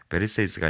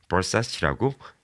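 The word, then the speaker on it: Versace: 베르세이스가 아니라 버사치라고 이름을 정정해 줍니다.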